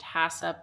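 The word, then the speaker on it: HACCP: HACCCP pronounced HASSUP.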